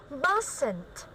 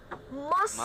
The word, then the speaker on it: mustn't: So it's like a silent T.